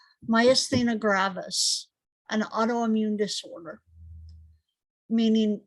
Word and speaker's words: myasthenia: it mycenia my athena okay so i said it right initially myasthenia gravis an autoimmune disorder